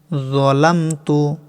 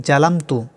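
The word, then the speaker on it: ظَلَمْتُ: যলামতু। অনেকে ভুল করে বলেন জালামতু।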